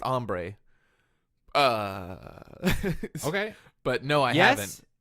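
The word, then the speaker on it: ombré: have you ever had ombre hair um it's pronounced ombre okay but no I yes yes I've also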